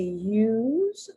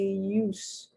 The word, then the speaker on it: use: use us now really i don't know how to pronounce that word it could be used or it could be use because that is a homograph so s could be either pronounced like an s or the s can be pronounced like a z so i'm just going